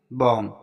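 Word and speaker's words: bomb: बॉम्ब, अब यहाँ पर देखो एन के बाद जो है बी आया है, तो यहाँ पर बी साइलेंट रहेगा, इसको हम बॉम्ब पढ़ेंगे।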